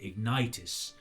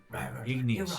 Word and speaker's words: Ignous: No, it's it's how you say it. It's got like a It's got a different way. I I'm used to saying Ignitis. And it's just making sure I get that just right.